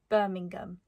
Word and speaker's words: Birmingham: The one giveaway for me when people meet me for the first time is when I say Birmingham. I say it with a very hard G instead of Birmingham.